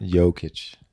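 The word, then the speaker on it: Jokić: J. It's like a Y. Jokic.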